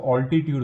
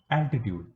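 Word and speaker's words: altitude: कुछ लोग इसको ऑल्टीट्यूड बोलते हैं। ऑल्टीट्यूड इज नॉट the right way of pronouncing it. एल्टीट्यूड, एल्टीट्यूड, एल्टीट्यूड का दूसरा जो मीनिंग है, dictionary meaning, word meaning, that is height.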